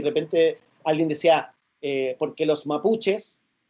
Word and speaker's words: mapuche: alguien desea porque los mapuches y la claro quitó que era una de las actrices decía ojo no se dice mapuches se dice mapuche cachai y que es una